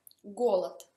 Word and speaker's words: голод: Голод, fame. Anche qui si scrive голод, ma si pronuncia голод.